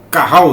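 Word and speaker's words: qahal: primeiro subtópico no antigo testamento o termo hebraico Carral se escreve que a h a l eh Carral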